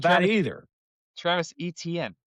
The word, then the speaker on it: Etienne: Have you heard NTN? That's not how you pronounce his name. ETN. Not that Travis either. Travis Etienne, right?